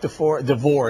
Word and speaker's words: DeVore: Is it Chuck DeVore, is that right? I pronounced that name right?